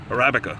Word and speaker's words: Arabica: what how do you say that Arabica Arabica Arabica that's it arabica coffee or Colombian coffee work